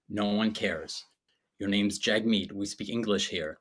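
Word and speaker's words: Jagmeet: his Twitter bio is please pronounce my name properly it's pronounced jug meat like dude no one cares your name's Jag meat we speak English here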